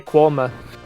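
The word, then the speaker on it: Quernmore: where we're from and if anyone can uh enunciate q u e r n m o r e correctly congratulations you know how to say quoma yeah um yeah so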